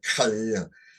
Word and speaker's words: Khalil: Kahlilgibran. That's the English, but that's not the pronunciation in Islamic. I botched it, but it's the Khalil, Khalil Gibran.